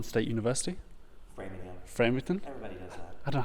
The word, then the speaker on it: Framingham: Before BCU, you taught at Farmington State University. Framingham? Everybody does that. I don't know how to say it. I know, framing, like Framing. to frame something.